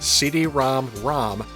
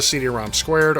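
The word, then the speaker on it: CD-ROM²: at it written out however it is officially pronounced cd-rom rom as opposed to cd-rom squared or cd-rom 2.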